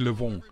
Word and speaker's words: Le'Veon: Le'Veon Bell, Le'Veon. Eigentlich nenne ich ihn Le'Veon, so wie LeBron.